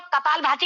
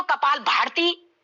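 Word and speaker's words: कपालभाति: भस्त्रिका भका बहुत से लोग कपाल भाती को कपाल भारती तो यह चीजें गलत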